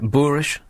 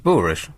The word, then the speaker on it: boorish: Did I pronounce that right? Boorish? I know that's the way it's written. Is it boorish or it's boorish?